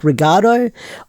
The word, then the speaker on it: Regad: But we also got to see him turn into Kamen Rider Regard, I believe it's pronounced. Like, it's spelled Regad, but how they say it in Japanese is like Regado.